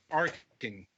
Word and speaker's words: Arcen: is Christopher Park of arson games am i pronouncing that right hard K Arkin okay I'm glad you